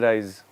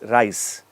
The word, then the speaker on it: rice: wanna Dal and Rise no it's not rice rise is rising it's rice so ensure that the sounds are set correctly rice should not sound like rise Rye should not sound like rice or vice versa you get it what